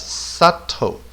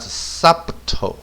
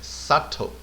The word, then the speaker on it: subtle: to read this word this word should be read as or should be read as subtle not subtotal okay do not pronounce b here okay subtle okay then what is